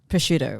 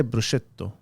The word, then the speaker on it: prosciutto: Prosciutto, right? Well, I say bruschetto.